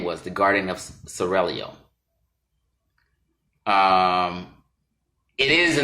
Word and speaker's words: Seraglio: Pronounce it Seraglio. I gotta roll the tongue, excuse me.